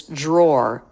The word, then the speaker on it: drawer: two syllables that's okay R is a syllabic consonant which means it absorbs the schah so there's really no feeling of awah it's just the r consonant so you can treat this drawer just like the word more which is written which